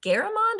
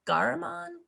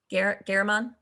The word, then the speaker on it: Garamond: fonts such as helvekta is it garamond a garmon garamond that was right the first time okay cool or and